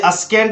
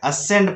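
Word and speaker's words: ascend: उसके बाद असेंड है, यहां नंबर 2 में देखिए असेंड है, जहां एस के बाद सी आ रहा है तो यहां पर भी सी साइलेंट है, इसलिए अस्केंड नहीं पढ़ना है, असेंड पढ़ना है।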